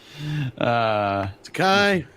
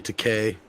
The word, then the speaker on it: Takei: Takai, just kiss my dick. Okay, that's all I'm gonna say, Takai. And it's actually Takei, but I pronounce it wrong anyway, just to piss him off.